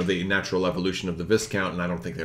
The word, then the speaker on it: Viscount: the Vikon Tour Viscount I say Viscount but some people say the S is pronounced silent and I say who